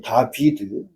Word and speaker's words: 다비드: 해 가지고 기름 받은 자가 다윗이 아니고 다비드예요. 다비드.